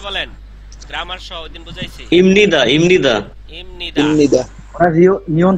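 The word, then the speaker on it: 입니다: ইমনিদা। ইমনিদা। ইমনিদা। ইমনিদা। ওরা নিয়ন থাকলে ইমনিদা। ইমনিদা। এই যে হ্যাঁ, বিয়ে পর পরে ইমনিদা। নিউন আছে, এজন্য বিয়ে পর উচ্চারণ ম জি।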